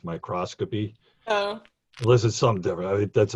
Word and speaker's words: microscopy: just minor grammatical correction you kept referring to microscopy it's usually pronounced microscopy this is something different